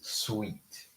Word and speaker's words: suite: Very different words, but same pronunciation. It is sweet.